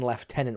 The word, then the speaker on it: lieutenant: what I was a second left tenant when I got out, right? So you can or in the US the similar is second lieutenant. We spell it the same but we say it differently.